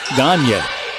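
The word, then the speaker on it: Gagnier: It's spelled Gaynier, pronounced Gagne. Out front to Brenna Holman, on the left to Kiki Wendell.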